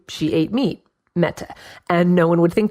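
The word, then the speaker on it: mete: meat which an Old English would have been pronounced and was typically spelled meta m ET e at that time the meaning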